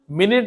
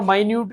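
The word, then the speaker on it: minute: जैसे इंग्लिश में मैं पढ़ाते हुए कई बार बताता हूं कि मिनट और माइन्यूट की स्पेलिंग सेम होती है। लेकिन मिनट का मतलब समय से होता है और माइन्यूट मतलब कम होता है।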